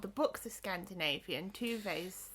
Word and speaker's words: Tove: Tuve's, like... I want to say... They're Finnish, that's it, because Moomin lands in Finland. Swedish-speaking Finnish illustrator Tove Jansson made them. Tuve, you pronounce it.